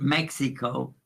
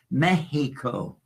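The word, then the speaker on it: México: from Tas Indians because the x is pronounced like a ha in Spanish it's not Mexico it's Mexico did you know that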